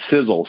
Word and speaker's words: Sisel: for something literally and it's in our name sizzle sizzle is spelled s-i-s-e-l it's an acronym the first letter